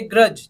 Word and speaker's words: grudge: Second word देखिए ग्रज, GRUDGE, तो यहाँ पे जी से पहले जो डी यूज हुआ है उसको साइलेंट कर देंगे तो क्या बना, GRUGE, है ना, प्रोनाउंस करने में ग्रज हो गया।